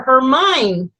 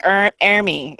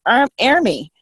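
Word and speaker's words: Hermine: look at him like oh it's French it's our army that's how it's supposed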